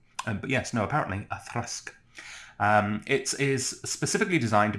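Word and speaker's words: Auchroisk: It looks like it should be pronounced outroisk. But yes, no, apparently a thrask.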